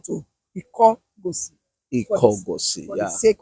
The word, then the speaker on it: Ikogosi: presented to me by the elders of the town of Ikogosi. The real name of Ikogosi was Ikogosi. Can you Mm.